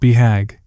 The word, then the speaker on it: BHAG: The acronym, BHAG, commonly pronounced BHAG, is universal to both entrepreneurs and self-help authors.